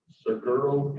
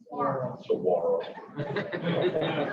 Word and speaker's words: saguaro: Stefanie helps manage her cow-calf operation, farm, Seguro Cactus. You need to talk to Stefanie about her nursery of little itty-bitty cactuses. How do you say that? Saguaro.